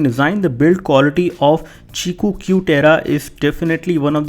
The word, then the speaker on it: Qiku: company is called Qi kuu but it is pronounced as chiku and this is their new smartphone which they